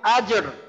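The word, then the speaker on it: أجر: এখানে তো একটা কলকলা আছে জিম, আবার আমি যদি রতে ওয়াকফ করি সেটা উচ্চারণটা মানে কলকলা ধরে উচ্চারণটা কি হবে আসলে? আচ্ছা আচ্ছা, এটা হবে ফালাহুম আজর, আজর, আজর, আজর।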